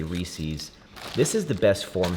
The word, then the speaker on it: Reese's: I tell you the Hershey the the Reese's cup, which apparently it's pronounced Reese's because the man who invented it, his last name is Reese. I say Reese's.